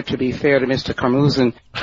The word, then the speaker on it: Karmazin: Them pronouncing Mel Karmazin's name a little differently.